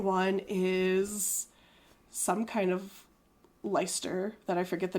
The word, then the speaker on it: Leicester: You see, it's pronounced Leicester.